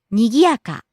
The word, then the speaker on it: にぎやか: 元気、 Next, にぎやか、 bustling, busy, lively, にやか、にぎやか、 rising on the second syllable Gi, coming down on the third syllable Ya and staying low. にぎやか、 Next, お茶、 tea, and usually means green tea, お茶、お茶、 rising on the second syllable Cha.